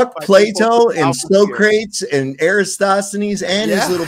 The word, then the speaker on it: Socrates: he signed it on there you can and so crates he he he signed his too what about copik it's pronounced Socrates you ignor it's so crates can't you read